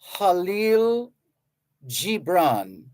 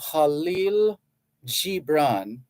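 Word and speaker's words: Kahlil Gibran: the the words of halil Gibran if you're in Lebanon that's how they would pronounce his name it's spelled k-a-h-l-i-l-g-i-b-r-a-n in Lebanon they would say Khalil Gibran but it's also acceptable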